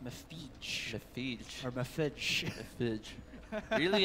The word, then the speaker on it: MEFYJ: Yeah, I think it's pronounced Mefij.